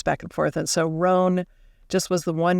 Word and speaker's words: Roan: Sure, Roan. Roan, right? I know. But then it would have to have another N and an E.